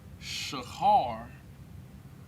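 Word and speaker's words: שחור: have here is black the pronunciation of black and the hebrew is shahar shahar is black right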